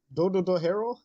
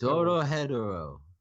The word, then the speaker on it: Dorohedoro: I don't know how to pronounce any of these anime. That's okay. Dodohero? Yes. Dorohedoro.